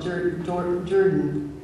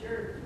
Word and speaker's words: Jordan: Now, Ron Zorn always called it Jordan. I'll say it right, it's Jordan. It is Jordan? Okay, but it's spelled Jordan.